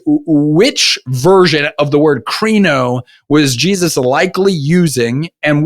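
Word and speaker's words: κρίνω: The word judge that shows up in Matthew Matthew 7:1 uh is a Greek word uh that's pronounced kro.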